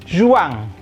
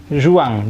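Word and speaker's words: juin: e-mu lanjuti itu adalah juang zhuang jangan Juang ini bukan berjuang tapi ini adalah uangnya alfabetnya z z tonton lagi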